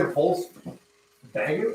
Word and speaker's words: Volkswagen: It's like a slightly an F and a V, but in German it's like Volks. Yeah. Like Volkswagen, isn't it? Yeah. So they say Volkswagen instead of wagon.